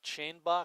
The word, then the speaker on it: Scherenbach: Bill's pronouncing it Shanebach, so we will too. Especially since it's spelled that way. Yeah. Didn't know if it was phonetic or not.